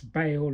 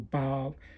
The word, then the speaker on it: Baal: Well, my personal belief is that Jesus is the son of Baal, which some pronounce Baal or Baal.